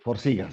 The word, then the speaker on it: Forxiga: Dice, desafortunadamente en el sector salud no tienen la disponibilidad del medicamento Forxiga, me parece que se pronuncia. Forxiga, sí.